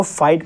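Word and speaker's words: fight: GH हमारा silent हो गया, इसलिए इसको फाइट पढ़ते हैं क्योंकि इसमें GH हमारा साइलेंट हो गया।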